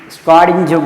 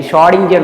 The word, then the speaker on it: Schrödinger: Schrödinger wave equation. C is silent actually. Schrödinger wave equation.